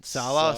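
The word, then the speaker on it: Saleh: Salah? Yeah. Salah.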